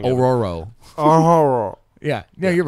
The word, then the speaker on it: Ororo: roar el pájaro I think I think you pronounce it wrong Ororo oh yeah yeah you're right thanks all right